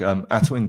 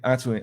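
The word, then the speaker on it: Atuin: So I'm going to plug Atwin Desktop.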